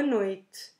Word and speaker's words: noite: in either ways boa noite again we can drop that last e at the end of noid or pronounce it in a very soft way or we say boa